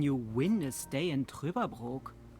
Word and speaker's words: Trüberbrook: How can you win a stay in Trüberbrook?